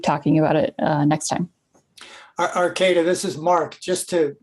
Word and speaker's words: Arcata: onto the program, is my apology if I don't pronounce this right, Arcata? Yep, you got it right, Kathy. It's Arcata. Hi, everyone.